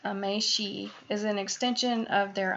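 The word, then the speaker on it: 名刺: For Japanese business professionals, a business card, pronounced meishi, is an extension of their identity.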